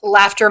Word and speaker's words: Laughter: simple and it sounds it's spelled just like it sounds like something's funny um i'm on instagram and that is laughter makes everything better i